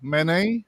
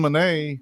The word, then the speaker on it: Manet: In Cambodia, the Prime Minister, Hun Manet, I believe is how you say it. It's similar to mayonnaise, but it's Manet.